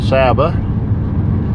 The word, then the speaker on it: San Saba: Well, okay, coming into the next little town, San Saba. I'm sure in Spanish it's correctly pronounced Saba, but I've got to say it like the locals do.